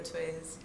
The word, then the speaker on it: TWZ: My artist name is TWZ, pronounced T or Twiz.